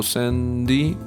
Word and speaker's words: S.F.3.D: Japanese, also pronounced S.F.3.D, because apparently san is pronounced 3 in Japanese, so san-di, so yeah, something like that.